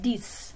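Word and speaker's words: dix: and the same with dis that x is pronounced like an s so some numbers that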